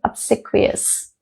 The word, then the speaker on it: obsequious: and pronunciation is slightly on the harder side but you'll get it even I got it with some difficulty but I did get it it's obsquious okay obsequious overly obedient somebody who